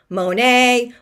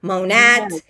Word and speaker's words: Monat: So Monat, but you'll hear it pronounced Monet, Monat, all different around different countries, different areas of our country.